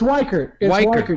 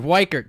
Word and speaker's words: Weichert: white gert realty sign is it white gert or or witcher or it's weiker you're right yes all right weikert so i'm right let's